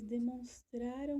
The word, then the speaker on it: demonstraram: Olha a pronúncia como é diferente. Demonstraram e demonstrarão.